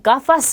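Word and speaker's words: gafas: 자, 우선 뒤에 모음이 아, 오, 우로 오는 경우는 기역 발음이에요. 그래서 자, 이 단어는 가파스라고 읽고요. 자, 이 단어는 고르도라고 읽겠죠. 그 다음에 이 단어는 구스토라고 합니다. 자, 그러면 가파스 하게 되면 우리 안경을 뜻하고요.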